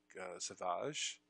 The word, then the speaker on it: Savage: damage is that like Sauvage that's how you pronounced by the way it's not Savage Opress like it reads it's a fob it's